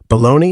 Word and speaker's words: bologna: Bologna is the Italian word for colon, but with the a dropped, so it rhymes with Tony instead of holy, because nobody wanted to eat food that sounds like your butthole talking back.